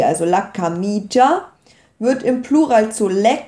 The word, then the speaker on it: camicia: Ja, zum Beispiel bei la camicia wird das I gar nicht, dieses I zwischen dem C und dem A wird nicht ausgesprochen, ist also unbetont.